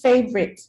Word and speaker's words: favorite: okay so people remember the correct pronunciation of the word is favorite okay it only has two syllables favorite remember that in english in